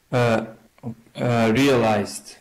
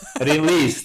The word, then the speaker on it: realized: You started saying it correctly and then you decided it was a different word altogether. I can't remember what you said, but released. I said yeah, released. Yeah, but it is realized.